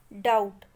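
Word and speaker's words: doubt: Here is a word डाउट having B letter silent. हमारे पास एक word है डाउट. डाउट शब्द में बी लेटर साइलेंट है.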